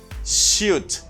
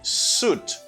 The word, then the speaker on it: suit: And this word, some people think it should be shoot. Shoot. Okay. Because we got U and I. Shoot, to try to pronounce both vowels. No, you cannot say shoot. You should say suit. Like double U. Double O. U. Suit. Suit. It's not suit, it's suit.